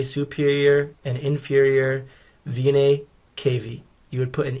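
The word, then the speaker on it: venae cavae: A's it'd be v-e-n-a-e-n-c-a-v-a-e anytime you see that a and the e at the end it's a plural and you just don't pronounce that a so you go straight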